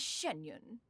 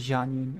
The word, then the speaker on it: Xianyun: when in public occasions be sure to refer to one as shenyun oh shenyun not janun okay I I've never